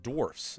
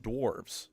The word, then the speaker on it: dwarfs: First is that it's pronounced dwarfs, not dwarves.